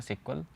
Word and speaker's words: SQL: इसे प्रोनाउंसिएशन किया जाता है सिक्वल. जनरली लोग इसे एसक्यूएल पढ़ते हैं.